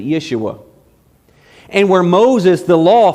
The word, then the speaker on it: Yeshua: comes on the scene Joshua is the same Hebrew word Jesus you pronounce it Yeshua and where Moses the